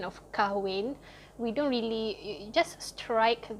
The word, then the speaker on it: kahwin: So here I've written the informal pronunciation of kahwin. We don't really, just strike the H over here, and you don't say kahwin, you say kawin.